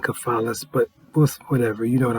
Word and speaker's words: Cephalus: I mean, C-E-P-H, but I learned it was a hard C in cephalus, but whatever, you know what I'm talking about.